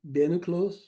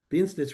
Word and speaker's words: Bienenstich: a dumpling made from flour, I guess, called bienenstich.